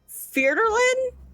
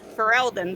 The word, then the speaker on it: Ferelden: What were you trying to pronounce? Ferdolin? Federlin? Ferelden? Ferelden, thank you.